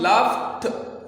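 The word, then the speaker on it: laughed: ये हम लाफ्ट ठ के साथ प्रोनाउंस करेंगे क्योंकि जी एच जब आता है तो ये फ आवाज देता है, और फ आवाज के बाद जब हम ईडी का इजाफा करते हैं तो ड नहीं आएगा बल्कि ठ आएगा।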